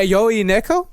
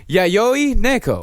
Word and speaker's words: Yayoi Neo: Yoi neo. He's You never say it right. We have to stop saying I No, no, I asked. Okay. I asked them and they said Yayoi Neo.